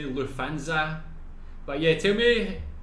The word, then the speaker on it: Lufthansa: In English, people usually say Lufthansa, but in German, we say Lufthansa. So the emphasis is on the first syllable, Lufthansa.